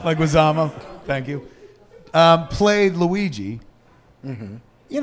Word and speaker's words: Leguizamo: Leguizamo. Leguizamo.